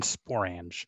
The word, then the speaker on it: sporange: And then sporange is another word that rhymes with orange.